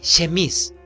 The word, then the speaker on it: chemise: Si yo digo aquí chemise, está mal, ¿cierto? ¿Cómo pronuncio?